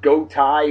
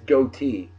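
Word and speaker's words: Gotye: thought it was pronounced go Thai or got gee or something like that g-o-t-y-e and I found out from the kids out there that is goatee OT that's g-o-a-t-e-e okay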